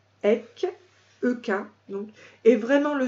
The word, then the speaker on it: Ek: Chantez la méditation Ek Onkar, qui signifie « Je ne fais qu'un